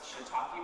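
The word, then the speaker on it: shiitake: comedy to help apparently it's pronounced shitake mushrooms and not to take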